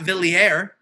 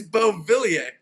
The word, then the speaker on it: Beauvillier: But look at the name. Beau, for sure. Yeah. Villiers. Because it's not Villiers. Because it's French. Good old Corky Romano reference for everyone. It's Beauvillier.